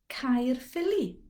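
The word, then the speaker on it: Caerphilly: word my my my this combination of vowels gives us the i sound you've bound to have seen it in so many place names uh one place name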